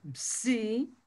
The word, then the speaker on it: Psi: La P y Si se pronuncia Psi.